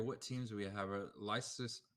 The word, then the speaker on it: Leicester: Leicester, how do you say that? Leicester.